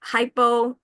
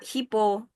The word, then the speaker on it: hypo: L is not there gak enggak dibaca and then like hypo not hipo hypo. And then identify not identify identify.